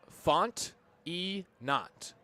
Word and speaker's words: Fontenot: His last name, by the way, spelled Font-E-Not, but it's pronounced Fontenot.